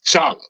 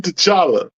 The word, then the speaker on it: T'Challa: the p or to Chala will suffice without the te Kevin without the te so his name the pronunciation of his name is Chala so are you saying